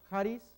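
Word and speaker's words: χάρις: Pero en cambio acá no, Haris, este es J, Haris.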